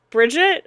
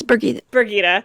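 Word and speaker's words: Birgitte: We see Bridget, I can never remember how to say her name. It's Birgitta.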